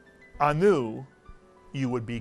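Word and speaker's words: אנו: If you said anu, you would be correct. The entire syllable is anu, and it's not anu, it's anu.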